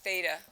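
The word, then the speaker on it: θ: So the angle is going to be a little circle with a line through it, and that is pronounced theta.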